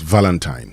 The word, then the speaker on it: Valentine: Valentine. Okay. But of course the stress is on the first syllable.